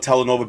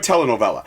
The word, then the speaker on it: telenovela: I guess I call it telenova basically because that's how I learned how to say it, but telenovela.